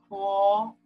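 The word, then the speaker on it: 活: And Bonnie, do you want to try to pronounce this as the second tone? Huo.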